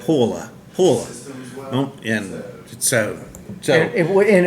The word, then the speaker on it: Pohjala: visited the brewery and found out that it's like almost a single syllable word as near as we could tell is like paa paa and so so and